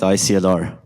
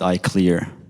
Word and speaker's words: ICLR: Yeah, it turns out people have two pronunciation for this for this conference. Some people call it ICLR, some people call it I clear.